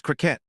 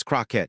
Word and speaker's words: Crockett: It's Crockett, your honor. Two syllables. She corrected him simply, firmly, immediately. No apology requested or offered for his error. No awkwardness conveyed. Just the swift, clear correction. Ah, Crockett.